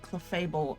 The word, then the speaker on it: Clefable: Clefable in the show.